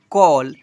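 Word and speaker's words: call: 51 जो है ना जब किसी वर्ड में ए के बाद डबल एल आए तो ए को औ से पढ़ते हैं।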